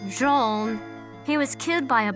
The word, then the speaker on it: Jean: Hello, it's pronounced Jean.